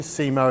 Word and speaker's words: CMO: quite get the name simo is the phonetic pronunciation of cmo chief marketing officer we were